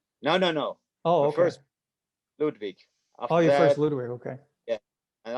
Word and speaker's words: Ludwig: it was a ludwig american saddle how you pronounce it ludwig ludwig yeah yeah yeah okay same kind of